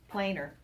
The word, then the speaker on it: planar: add the word planar p-l-a-n-a-r plainer not you know we say plainer but planar is how you spell it so trigonal planar all